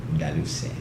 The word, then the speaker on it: Delussy: How do you pronounce his name? That was said. Daluse. Really? I mean, it's spelled like Delussy.